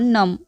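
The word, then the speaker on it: numb: माय लेग has gone नम माय लेग has gone नम यहां पे B silent होता है पैर को इंग्लिश में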